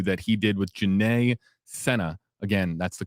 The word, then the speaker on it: Sena: course, the interview that he did with Janae Sena, again, that's the correct pronunciation of the name, the aunt of little Charlotte Sena, you can find it, of course, on his channel.